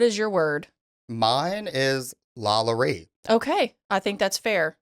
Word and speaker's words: LaLaurie: So it's LaLaurie. It's not LaLaurie. Okay. LaLaurie. Okay.